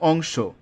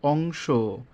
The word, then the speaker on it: অংশ: প্রিয়তম একইভাবে প্রিয়তম তো তিন নম্বরে যে নিয়মটি আছে সেটি হচ্ছে অন্ত অ এর পূর্বে অনুস্বার বিসর্গ থাকলে অ এর উচ্চারণ ও এর মত হবে যেমন অংশ অন্ত অ এর পূর্বে কি আছে অনুস্বার আছে দুঃখ অন্ত অ এর পূর্বে বিসর্গ আছে তাহলে কি হবে ও এর মত হয়ে যাবে অংশ দুঃখ একইভাবে বংশ